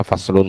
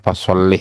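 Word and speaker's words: فَصْلٌ: Maka di sini kita bacanya faslun saja ya. Jangan fasholih ya. Jangan fasholi juga. Karena kenapa?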